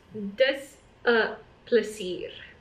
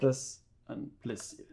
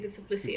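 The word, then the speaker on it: Dis 'n plesier: Das a plesir. That is a plesir. Das an plesir. Sounds like pleasure. Yeah, exactly. Das a plesir. It's we don't pronounce the N as a N.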